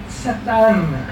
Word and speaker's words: Satana: Satã, eu pronunciando assim, mais parecido com o hebraico, fica um pouquinho menos. Satana. Né? Jogando a final para sair um pouquinho.